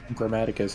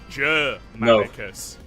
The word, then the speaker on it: Germanicus: Grammaticus is here. No, Germanicus.